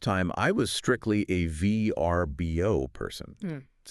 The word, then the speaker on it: Vrbo: Because for the longest time I was strictly a VRBO person. It's an acronym. You spell it out.